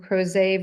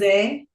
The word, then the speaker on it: Crozet: We've got another one launching in Crozet, Virginia. I have been mispronouncing that, by the way, for like So it's months. Crozet.